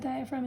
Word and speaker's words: diaphragm: underneath your lungs and this muscle is called the diaphragm and that diaphragm is filled with a silent g now these two